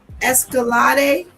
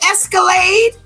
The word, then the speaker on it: Escalade: So he's throwing it es escalate like supposed to be escalade.